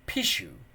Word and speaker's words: pishu: spoken by a human the word pishu for example is pronounced very like a sneeze more common phrases more